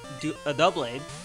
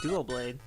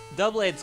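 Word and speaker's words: Doublade: He's got a double blade. I always call it dual blade, but it's spelled D-O-U. Everyone does it. Yeah, because it's not like I figure it's duo as in two, but it's double as in two.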